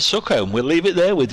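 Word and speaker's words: Sookholme: home um there was a small village called succumb we'll leave it there with you folks if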